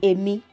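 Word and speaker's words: Èmi: the sentence just I I in yoruba is Amy Dory Amy so that's how to pronounce it it's strong because you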